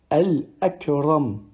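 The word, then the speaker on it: الأكرم: La deuxième possibilité, c'est lorsque la hamza est sur la pointe du elif. Et du coup, on la prononcera normalement. Al-akram, al-akram, sans allonger de temps.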